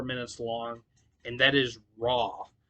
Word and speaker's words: Roi: all right uh number 14 is the other song that is uh four minutes long and that is raw uh which is spelled different it's spelled r-o-i um now I will